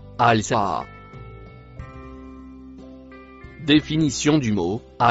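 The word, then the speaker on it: الساعة: Le mot marron se prononce al-saa.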